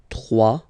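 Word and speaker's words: trois: 3, final S not pronounced. 3.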